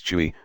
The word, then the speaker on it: Chui: associated with the lungs; Chui, pronounced like Kui with a forceful exhale, which is associated with